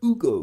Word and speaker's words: Hugo: Ei or Hugo if you want. Ugo because they don't pronounce the H.